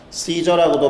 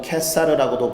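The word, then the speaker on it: Caesar: 시저라고도 발음하고 캐사르라고도 발음하는 것을 역시나 중국어에서 번역한 것을 우리나라에서 도입하다 보니까 가이사라고 한 거예요.이 사람을 놓으면 가이사 곧 로마 황제의 충신이 아니니다.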